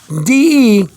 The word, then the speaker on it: de: D-E, de. You pronounce it D-E-H.